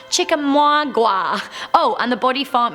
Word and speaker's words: Chickamauga: It's actually pronounced Chickamauga.